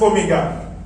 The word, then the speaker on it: omega: It looks like W. But then it only looks like W, but it is pronounced omega, the last Greek alphabet.